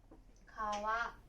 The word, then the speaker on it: 川: Nó có thể được đọc là "kawa" hoặc "gawa."